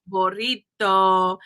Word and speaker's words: burrito: piñata, jalapeno, taco, burrito, but we're saying it like Americans. It's actually piñata, right, burrito, so it is actually pronounced a little bit wrong, but that's if you were speaking Spanish, jalapeno.